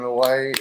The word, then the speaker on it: Hawaii: Yeah, it's kind of like when I was in Hawaii. You tell all the locals pronounce it with a V, and all the tourists say with a W.